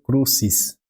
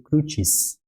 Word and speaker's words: crucis: Então, aqui não vai ser crucis, né? Vai ser crucis, tudo bem? Porque o CI, no latim, ele vai ter essa pronúncia de chi, tá?